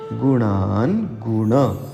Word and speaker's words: गुणानंद: जरा संभ लिगा पढ़िए गुणानंद पढ़ते समय न का उच्चारण तालू के कुछ ऊपर मूर्धा से करना होता है जहां से ट ठ ड ढ न बोलते हैं सो पढ़िए गुणन